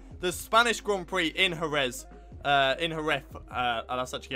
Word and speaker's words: Jerez: It's going to be the Spanish Grand Prix in Jerez.